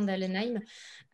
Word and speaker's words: Dahlenheim: un petit peu compliqué j'ai demandé hier à mélanie si je prononçais bien dahlenheim c'est parfait m'a rassuré et un accent